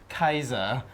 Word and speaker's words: Caesar: one of the Lawson's Julius Caesar yeah Julius Caesar well I'm you have any other ideas guys Julius unfortunately that's no just out in Latin and there's no sound in Latin its Gaius Julius Kaiser so you are both dum-dum this is not